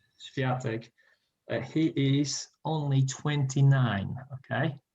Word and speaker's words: Świątek: But the coach of Iga Świątek, you pronounce her name Świątek, he is only 29.